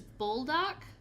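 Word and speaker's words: Buldak: And for anybody else, it's the I don't know how it's pronounced, but this is phonetically the way it appears to me, is Bulldock. It's B U L D A K. Bulldo Ramen.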